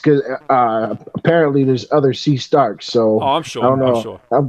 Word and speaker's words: C. Starks: yeah c dot starks is that how you say it do you say c starts or do you say c star uh c dot i say c i say c starks but yeah okay just